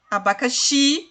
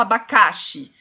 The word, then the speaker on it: abacaxi: Abacaxi, xi é a sílaba tônica, né? Porque você não fala abacaxi, você fala abacaxi.